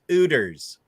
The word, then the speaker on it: Hooters: You don't pronounce the H anymore. It's completely different. It's Ooters. It's not like it was.